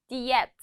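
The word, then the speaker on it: diyet: 자, 비슷해요. 근데 발음은 diet라고 해요. diet.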